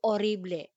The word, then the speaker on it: horrible: and tagalog impossible impossible so we also have orible in spanish if you want to say horrible that would be orible so notice letter h in pino pronounced as spanish horible and we have un